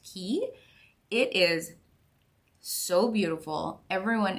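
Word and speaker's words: Caye: but with a Y but it's pronounced key it is so beautiful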